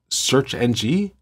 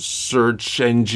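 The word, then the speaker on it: SearXNG: project called something like search NG I'm assuming that's how they want you to pronounce c a RX search they refer to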